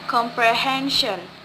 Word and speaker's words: comprehension: For example, comprehension. So the word stress, the stress placed on the second to the last syllables. Comprehension.